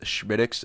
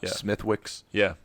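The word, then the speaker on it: Smithwick's: did you know that that is pronounced schmidx and not smithwicks yeah supercalifragilisticexpialidocious yeah it's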